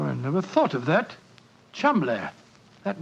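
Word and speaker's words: Cholmondeley: is in no way pronounced the way it is spelled. Oh, Joe, I never thought of that. Chumlay.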